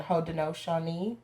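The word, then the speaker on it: Haudenosaunee: side is scottish and ho dinoshani which is how you say iroquois but in the actual dialect so my grandfather is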